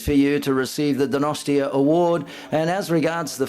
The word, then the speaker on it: Donostia: It is that how you pronounce it? Donosti? Donosti? Yes, that's right. That's right. Donosti.